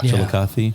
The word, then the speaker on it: Chillicothe: You can always tell when you bump into somebody, no matter where you're at, and they pronounce it correctly. Yeah. Chillicothe.